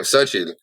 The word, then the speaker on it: Xochitl: It has all the CH, like my partner's name, Xochitl. It is with the CHITL at the end, but you don't pronounce the T.